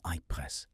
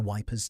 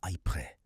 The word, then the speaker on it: Ypres: They named it the Wipers Times, after the British Tommy's cheerful mispronunciation of Ypres, because saying Ypres was considered frankly above one's station.